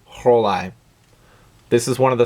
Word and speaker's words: Rollei: I have heard the brand name pronounced several different ways, Rollei, Rollei, but it's German, right? So it should be Rollei.